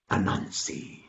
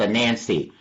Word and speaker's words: Anansi: I had to ask my teacher one day, how do you spell Anansi when I was in grade school? She said his name is spelled A-N-A-N-S-I. A-N-A-N-S-I. A-N-A-N-S-I. I said, teacher! Yes, young man. A-N-A-N-S-I. I thought that was a Nancy. No, that his little sister is a Nancy.